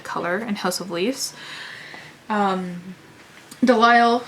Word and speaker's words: Delisle: Delisle sounds like denial, because he's in denial about a lot of things, Navidson.